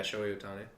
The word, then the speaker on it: Shohei Ohtani: Shohei Ohtani. That's how you say it, right? Yeah, Shohei Ohtani.